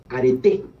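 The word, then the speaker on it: areté: dominar frente a otros, se le conoció como arete, A-R-E-T-E, acento en la última E.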